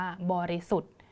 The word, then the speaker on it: บริสุทธิ์: สระ อิ นะ คะ แล้ว ก็ มี ทัณฑฆาต อยู่ ด้าน บน มา กด เสียง ของ ธ ธง แล้ว ก็ สระ อิ เอา ไว้ นะ คะ คำ ๆ นี้ ก็ เลย อ่าน ว่า บริสุทธิ์ บริสุทธิ์ นะ คะ อ่าน